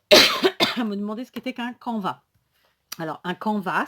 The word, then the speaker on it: canvas: alors un camp va ça s'écrit ca n b as donc en fonction des régions pourrait dire à caen basse moi je dis un combat je ne prononce pas le mot est donc un camp